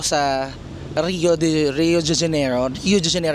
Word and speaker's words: Rio de Janeiro: Rio Rio de janeiro rio de janeo iung pronounced guys hindi rio de janeiro so Andito ako sa